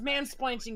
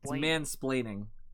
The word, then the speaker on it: mansplaining: place you can't drive why do you call it mansplanching that's the term no it's mansplaining because because it's it's